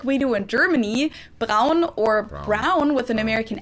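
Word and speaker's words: Braun: pretty sure i would pronounce it brown now but i'm pretty sure before i think i would pronounce this brawn for sure which sounds really weird to my ears fun fact brown was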